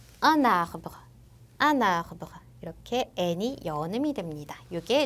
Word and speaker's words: un arbre: un arbre 라는 단어를 보시면 원래 각자 발음했을 땐 un arbre 이렇게 되겠지만 앞에 나온 n이 발음되지 않는 자음이고 뒤에 나온 a가 모음이기 때문에 이때 연음이 돼서 un arbre 이렇게 n이 연음이 됩니다.